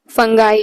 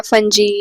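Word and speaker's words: fungi: Animal cells, plant cells, protozoa, फंगाई या फंजी या फंजाई जो भी आप प्रोनाउंस करो।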